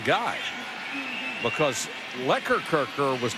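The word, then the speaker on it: Lekkerkerker: the wrong guy because lekker kirker was not the guy that was holding who liquor kirker that's the way he pronounces his name the way he's called l-e-k k-e-r-k-e-r-k-e-r now they're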